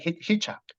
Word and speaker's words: Hichak: And the previous the match director, Tim Hichak, am I pronouncing right? Hichak. Yeah, Yeah. Tim Hichak.